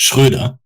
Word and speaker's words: Schröder: okay how's it pronounced it's it's schroeder like a lot of germ a lot of german sounds come like from the back of your throat and that's like a non-existent like sound in english so it's like